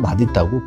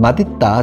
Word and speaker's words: 맛있다: 틀리다라고 생각하는 사람들이 있는데, 원래 표준 발음은 맛있다고, 복수 표준 발음 허용되는 게 맛있다거든요. 그러니까 우리가 이제 흔히 TV에도 보면 가끔 맛있다, 정말 맛있는 걸 이렇게 이제 발음하는 아나운서들이 있는데, 원래 그게 표준 발음이에요. 그래서 둘 다 인정을 해준다라는 거, 복수 표준 발음으로.